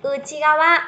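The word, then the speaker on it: 内側: Đó chính là Uchigawa. Nhớ cho em xem nhá. Chữ nội sẽ đọc là Uchi, Uchigawa phía bên trong.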